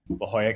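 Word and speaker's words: La Jolla: my life did not imagine ending up in La Hoya California doing scientific research you said it correctly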